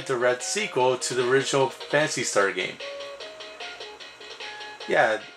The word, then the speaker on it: Phantasy Star: Fantasy Star 2 okay it's actually pronounced Fantasy Star I guess the pH is silent here's a big sequel